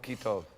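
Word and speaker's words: כי טוב: So you would pronounce that, if you just had to write this out as CHY, you would pronounce that as Kai, and it's key. Okay? It's Ha'or Kitov.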